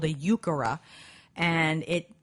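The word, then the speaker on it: Heuchera: of it as well yukara is spelled like h u e c h e r a or something like that but that's a really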